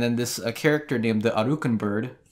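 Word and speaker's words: Aracuan: And then this character named the Arukan Bird... It's not Woody Woodpecker. Araquan. Araquan. They pronounce it the Arukan Bird. Arukan? It's A-R-A-C-U-A-N.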